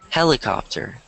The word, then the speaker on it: helicopter: So this word, the H is not silent. In most words in English, I would say H's are not silent, whereas in a lot of Romance languages, it is silent. So this word is going to be pronounced like this.